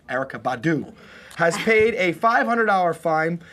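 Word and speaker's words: Erykah Badu: entertainment weekly erica badou remember the syllables erica badu say with me erica badou has paid a 500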